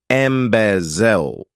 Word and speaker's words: embezzle: To embezzle, this verb has 3 syllables, and the stress is on that second syllable, embezzle.